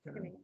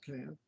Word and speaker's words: Canaan: It's pronounced Canaan. Or Canaan. Okay.